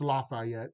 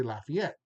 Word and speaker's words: Lafayette: I know in French it's Lafayette, but we don't say that here. We say Lafayette.